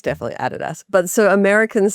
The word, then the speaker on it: Adidas: I think it's Adidas. Oh, yeah. It's definitely Adidas. But so Americans say Adidas.